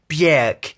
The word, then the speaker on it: Björk: But actually you're wrong if you think that, because if you check YouTube, you'll see a video of Björk saying, no, actually it rhymes with jerk.